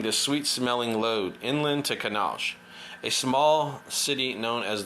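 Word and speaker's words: Kannauj: his scooter ferrying the sweet-smelling load inland to canal a small city known as the perfume capital of india for centuries kanaj produced are pronounced canalej in north northeast india's ganja's belt has been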